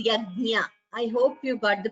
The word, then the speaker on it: यज्ञ: This Nya is Yajnanam. It should be pronounced clearly. Do not say Yagna. It is not Gna. It is Yajna.